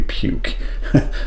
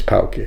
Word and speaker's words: Puke: called uh poke poke if you say that in English would be puke because it's spelled puke but his his name is pokey so then you have that name right.